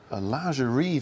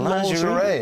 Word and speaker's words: lingerie: We did a lingerie version. Someone said, how do you pronounce that? Well, I said lingerie, and this guy came up to me after a show and said, it's not lingerie, it's lingerie.